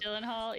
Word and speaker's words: Gyllenhaal: How you pronounce it? I always wondered. Gyllenhaal, yeah.